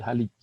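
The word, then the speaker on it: Haliç: Orang Turki C yang nggak punya jenggotnya itu dibacanya seperti huruf jim, ya, jadi Halij.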